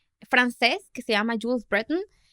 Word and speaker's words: Breton: Francés, que se llama Jules Breton, o como sea que se pronuncie.